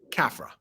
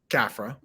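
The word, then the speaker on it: Khafre: for khufu's son uh apparently kephra kafra that's how you say that kafra lost my place right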